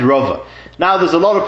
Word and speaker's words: רבא: Whenever in the Gemara you see Reish Beis Hey, you read it Rabbo. And usually you're talking about Abay's uncle, Ravba bar Nachmani, Rabbo. When you see Reish Beis Aleph is Rova. And that's how it's pronounced, Rabbo and Rova.